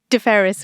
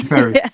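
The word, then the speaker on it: DFHERIS: Um I let you pronounce the abbreviation deferris we usually say deferris deferris.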